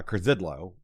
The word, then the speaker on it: Curzydlo: joined today, we're joined today with Trista uh Krzidlo, which I think I pronounced that right.